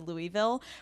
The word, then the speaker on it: Louisville: cuz I was like, I want to say Louisville, but like I was trying to not like embarrass myself, so I just said Louisville, but then you just said I said it right, so I'm going to just keep saying Louisville.